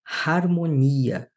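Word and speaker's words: ἁρμονία: É a mesma coisa na palavra harmonia. Você precisa aspirá-la.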